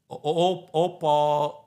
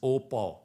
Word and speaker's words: au pair: the US is by is what is called AP uh op Visa I mean is a is a French word the the spelling is au space p a u i u p a i r like like pair when